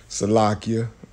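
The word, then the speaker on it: סליחה: Salakia, you know, that's how you say it in the Hebrew, forgive me.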